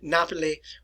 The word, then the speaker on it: Napoli: Napoli or Naples, new city is what it actually translates to me.